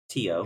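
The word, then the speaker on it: Tío: It's literally Tito. Tio. It's uncle in Spanish.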